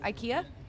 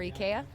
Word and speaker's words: IKEA: IKEA or IKEA, depending on where you're at and how you pronounce it.